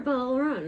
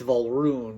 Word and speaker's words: Volrune: Is it Volrune or Volrune? It's Volrune. Volrune. Yes. But you don't spell it like rune. That's the point. It's like R-U-U-N? Yes. Alright. I always forget to put the umlauts above it.